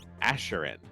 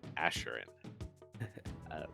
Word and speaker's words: Asherin: They sent me the pronunciation, Asherin. There we go, Asherin.